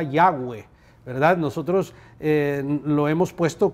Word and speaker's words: Yahweh: letras consonantes, y entonces quizás la pronunciación más aproximada sea Yahweh, ¿verdad?